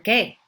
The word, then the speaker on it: qué: ¿Por qué? ¿Por qué? Why? ¿Qué? Or you could say ¿qué? It's just like the letter K.